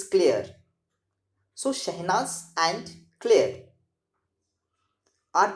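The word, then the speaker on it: Clare: here shahinas and clear the pronunciation of c-l-a-r-e is clear it's not clear okay it's clear so shahnaz and claire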